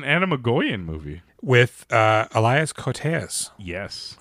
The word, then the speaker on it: Koteas: With ELIAS KOTEAS. Yes. Or KOTEAS. I don't know how you say his name. No, I think KOTEAS is correct.